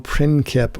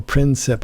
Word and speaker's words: Princip: archduke this is gavilio principe or princep i've heard it's pronounced both ways there are no photographs